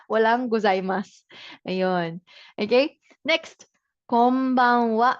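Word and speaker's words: こんばんは: Pero pronounce it as wa combawa wa.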